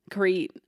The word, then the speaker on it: Crete: But it is pronounced Crete? Crete.